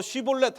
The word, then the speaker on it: 쉬볼렛: 그래서 너 쉬볼렛 해봐라고 해서 근데 에브라임 사람들은 발음이 이게 쉬볼렛이 안 되는 거예요. 그래서 발음을 제대로 발음하지 못하고 시볼렛이라고 하면 너 에브라임 사람이구나 그리고 죽였다는 거예요.